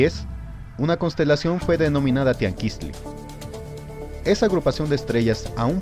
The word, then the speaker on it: Tianquiztli: El actual tianguis es una deformación al castellano de la palabra original de la que derivó este, palabra de origen que pertenece al idioma náhuatl, misma que pronunciada correctamente es la de Tianquistli.